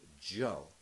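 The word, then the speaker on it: 九: very simple chant it's the sound Joe and Joe is how you say the number nine in Mandarin Chinese and it happens to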